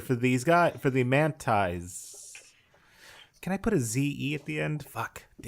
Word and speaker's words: Mantae: Gus, you are the interpreter for these guys, for the Mantaes. Can I put a Z-E at the end? Fuck. Damn it. I'm envisioning it Mantae like Mantae, like antennae.